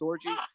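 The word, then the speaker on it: Orji: they're going to give the start to Alex orgy uh he's excuse me his name is spelled o rji is how you spell it but it's it is pronounced orgy so he's just he's he's taking over the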